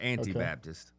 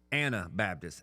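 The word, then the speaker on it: Anabaptist: Anna, not Anti, but Anna. No, Anna. Not Antibaptist. Okay. Anna Baptist.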